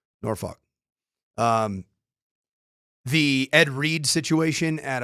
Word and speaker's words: Norfolk: You like how I say Norfolk? That's how they say it in the Tidewater. Norfolk.